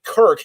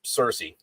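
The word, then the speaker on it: Circe: audiobook or figure out how this fucking shit's pronounced. But Kirk is how you pronounce Cersei, in the Greek thing.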